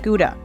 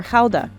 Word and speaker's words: Gouda: More than half of it is Gouda, or Gouda, as it's pronounced here.